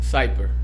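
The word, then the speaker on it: Zypper: ni tiene DNF, es Zyper. Ese no lo conocía. Zyper. ¿Cómo se escribe? Casi como Zipper, con Z. Casi como Zipper o algo así, pero con Z.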